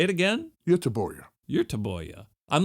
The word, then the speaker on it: Göteborg: When we were talking about Gothenburg, and I was teaching you the Swedish pronunciation of that city. Gothenburg? Göteborg?